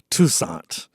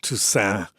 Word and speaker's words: Toussaint: Tucant and the you know the correct French is is tusan and the the final T is silent but uh my mother being from the south is Tusant and the final T